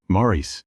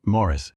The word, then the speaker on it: Maurice: The character had his name but used the American pronunciation, Morris, while Evans himself insisted on the traditional British version his whole life, Maurice. Every scene was basically a performance of his own name being mispronounced.